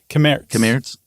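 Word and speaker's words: Cammaerts: Kamertz. Yeah, because the RTS would all be pronounced.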